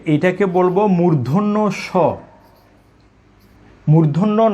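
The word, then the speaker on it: মূর্ধন্য ষ: তাহলে আমরা একটু আগে শিখেছি, এখানে দুটি বর্ণের কিন্তু উচ্চারণ আমরা শিখে নিয়েছি, যে এটাকে বলবো মূর্ধন্য স, মূর্ধন্য ন, মূর্ধন্য স, মূর্ধন্য স।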